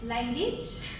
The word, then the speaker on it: language: And language. Language. That's a U in there.